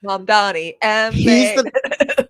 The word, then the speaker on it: Mamdani: The name is Mamdani.